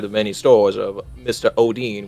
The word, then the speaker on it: Odhinn: Odhinn, which, by the way, is the correct pronunciation.